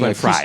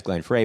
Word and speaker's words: Glenn Frey: Glenn Fry. It's Glenn Fry. That's how Oh, is that how you pronounce it?